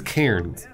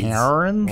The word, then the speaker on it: Cairns: Wait, she means Cairns. Yeah. Not Cairns. Cairns? Well, I mean, I think how she pronounces it is probably how it's pronounced.